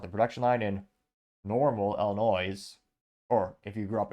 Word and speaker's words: Illinois: that rolls off the production line in Normal Illinois or if you grew up in Illinois if you're from the Midwest you know it's actually pronounce Illinois but yeah if I was an